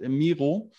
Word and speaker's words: Miro: So then I switch over to a software called Miro, or as we pronounce it, Miro.